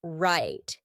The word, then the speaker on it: write: you a quick example how about the word write did you hear write nope instead when I said that final T my tongue was stopped at the top of my mouth that's why we call it a stopped T right right let's look